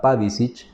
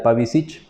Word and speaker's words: Pavicic: Cabe destacar que hay un pequeño detalle: el apellido se pronuncia en croata Pavicic, pero por costumbre en el castellano, en nuestra región Camba cruceña, lo solemos pronunciar Pavicic, así que por fines de comodidad vamos a pronunciarlo Pavicic.